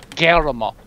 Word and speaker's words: Guillermo: Rolls in the back of your mouth. Guillermo. Del Toro. Guillermo. Almost. Don't roll it, but get close to it.